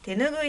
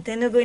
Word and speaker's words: 手ぬぐい: た婆さんの手ぬぐいの発音はぬの音が上がっています関西弁では